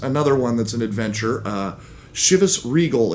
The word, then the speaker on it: Chivas Regal: Chivas Regal is actually, I believe, how it's supposed to be pronounced. But if you listen to people, if you get on the internet and look and listen, there is Chivas, there's Regal, there's Regal, any number of mispronunciations out there to the point where I'm not even for certain what is the correct one.